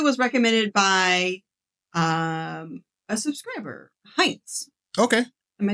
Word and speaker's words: Heinz: This video was recommended by a subscriber, Heinz. Okay. Am I saying that right? Yes. Okay. If it's spelled the way I think it's spelled.